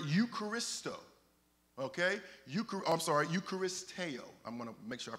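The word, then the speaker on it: εὐχαριστέω: the Greek word Eucharist okay ukar I'm sorry eucharisteo I'm going make sure I pronounce it properly eucharisteo and it means to be grateful that is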